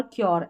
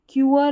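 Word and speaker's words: cure: श्योर, अश्योर, क्योर ऐसे पढ़ना है, श्योर, अश्योर, क्योर। क्यूअर, अश्योर, श्योर ऐसे नहीं पढ़ना, फिर से इसको करेक्ट कर ले।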